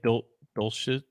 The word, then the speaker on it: Dulcich: I think Dulcich, Dulcich, yeah, you pronounced it correctly.